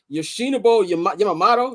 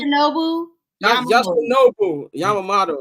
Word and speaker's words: Yoshinobu Yamamoto: Yoshinobu Yamamoto. That's how you pronounce his first name. Yoshinobu Yamamoto. Yoshinobu Yamamoto.